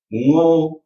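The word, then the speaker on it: ngô: Our O in English is never pronounced the way the Vietnamese O is pronounced. There is no motion in your mouth when you say ngo, right? It's just o, and you stop before you relax your lips.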